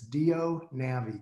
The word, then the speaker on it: DIO: of a funny pronunciation do is just D o do but it's spelled di o so just drop the I and it's do navi do is the implant